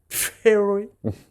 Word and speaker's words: Theory: Theory. Ça se prononce comme ça, hein.